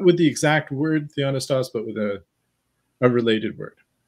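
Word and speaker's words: θεόπνευστος: Some people pronounce Theopnustos because they're pronouncing that pi. I'm used to hearing it with a silent pi there, but Theonistos or Theopnustos. Or Theopneustos, I've heard as well.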